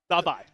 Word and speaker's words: Davai: Envy buying as much time as possible, and Davai in from behind. It's Paper X with another one. Say it one more time for me, Jordan. Davai. That is how you pronounce Who's Davai, man?